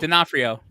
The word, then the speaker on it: D'Onofrio: Oh, I always get this guy's name wrong. Go ahead, you got it. D'Onofrio.